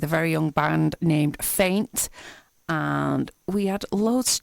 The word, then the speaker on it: F3INT: I caught up with a band called faint spelled f-3 int so the E becomes a three very unique so uh